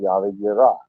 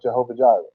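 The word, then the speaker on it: Yahweh Yireh: If they call him their provider, they call him Yahweh Yirah, not Jehovah Jireh. Yahweh Yirah. That's how it's actually pronounced.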